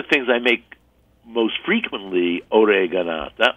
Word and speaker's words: oreganata: So one of the things I make most frequently, oreganata, or in dialect, ricanata, or, there's so many different pronunciations, is shrimp, because this is like the easiest way I know shrimp.